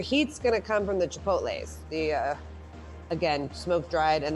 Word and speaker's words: chipotles: And then your heat's gonna come from the chipotles.